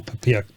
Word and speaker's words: POPIA: Yeah, I think the regulators actually gone to great trouble to ask us to pronounce it Popia, but I'm actually right there with you. I can't get Poppy out of my head,